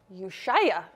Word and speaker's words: Ushuaia: Ushuaia.